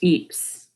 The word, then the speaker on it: Ypres: It's pronounced Eeps.